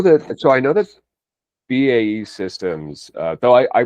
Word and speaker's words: BAE: I know that so I know that BAE Systems uh though I I prefer your pronunciation. So I know that Bay Systems has made a couple of acquisitions over the past few years.